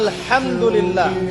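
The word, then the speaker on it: الحمد لله: আপনি পড়ছেন আলহামদুলিল্লাহ।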